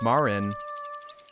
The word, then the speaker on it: Marin: It's Marin. That's how you say it.